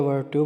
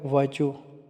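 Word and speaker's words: virtue: खा जाते हैं कि इसमें आर की वजह से व वर्चू बोलते हैं या वर्टू बोलते हैं ऐसा नहीं होता यह वाला वर्ड जो ना वो है वर्चू वर्चू और जो है ना वो साइलेंट रह जाएगा इसमें सेकंड रह जाएगा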